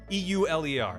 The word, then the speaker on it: Euler: you might expect okay this is euler e-u-l-e-r that's it's the pronounced euler all this sucks every